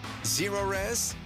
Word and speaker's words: Zerores: Spelled the same forward or backward. Zero-Res is the right way to clean.